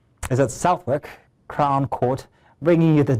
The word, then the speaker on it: Southwark: Senior international correspondent Afia Hagen is at Southwalk pronounce is at Southwork Crown Court bringing you the details, the latest from the trial.